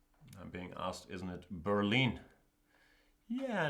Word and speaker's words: Berlin: Yeah, in German we say Berlin. In English I think they say Berlin, right? It's very tricky with all these languages. My head is all messed up. But yeah, the German pronunciation is Berlin.